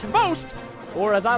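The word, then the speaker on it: XBOCT: Xbox, which is somehow pronounced Host, or as I like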